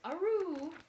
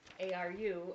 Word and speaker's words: Aru: dog in the world, his name was Aru, A-R-U, Aru, like the noise a dog makes.